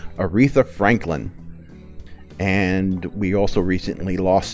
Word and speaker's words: Aretha Franklin: oak from Pokemon we also lost Motown legend retha Lee Thor keep getting her name wrong Aretha Franklin and we also recently lost Senator John McCain